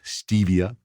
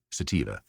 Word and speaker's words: sativa: year on the podcast some people mispronounce that sometimes it is not stevia or satvia it is sativa and here in the